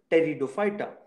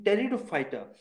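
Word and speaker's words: Pteridophyta: the next one is teredo fighter in this p is silent so in territor fighter your body is separated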